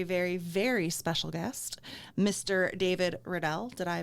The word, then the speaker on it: David Riddell: a very very very very special guest mr david riddell did i pronounce that correctly you did excellent um with